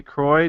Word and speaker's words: Croy: we are pleased to be joined by kelly croix did I say her name right yes I